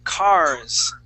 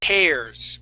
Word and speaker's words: cares: um this word here you had said cars okay this would be cares with a long a sound cares cares okay one